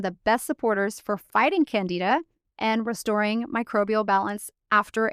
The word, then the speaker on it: Candida: yeast diet is called Candida. I think you're supposed to pronounce it Candida, but it sounds like Canada and everybody gets confused.